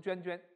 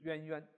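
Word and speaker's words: 蜎蜎: 冤冤者逐，冤冤就是蠕动的。也有人读成涓涓，读成渊渊。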